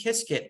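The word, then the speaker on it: Qiskit: uh tutorials is basically start off with IBM kiskit it's free it's spelled q-i-s-k-i-t and then you can go through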